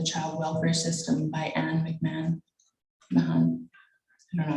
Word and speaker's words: Mahon: Up in the Child Welfare System by Anne Mahon. I don't know how to say her name. Mahon?